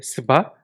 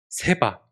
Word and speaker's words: 스바: 여러분, 이게 발음이 좀 희한하죠? 스바. 근데 이거는 발음상 세 가지로 불리기도 합니다. 성경의 버전에 따라 다른데 스바, 세바, 그리고 네, 시바 영여요 이렇게 불리기도 하는데 다 같은 말입니다. 발음상의 차이고요.